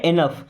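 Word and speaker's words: enough: एनफ।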